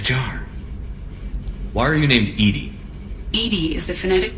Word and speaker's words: EDI: airlock is a jar why are you named Edy Ed is the phonetic pronunciation of e di that is an acronym